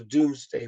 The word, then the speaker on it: Domesday: two books so the Doomsday Book is two Doom um isn't spelled D o om is actually spelled like King's dome in Seattle it's d-o-m-e pronounced Doom but it's not it's not spelled Doom the and in fact